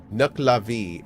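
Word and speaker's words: Nuckelavee: Nucklavi is how that is typically pronounced.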